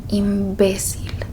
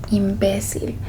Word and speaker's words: imbécil: And this is where we will put the tilde because this is where we're putting emphasis. Okay? When we're pronouncing it, imbécil. Imbécil.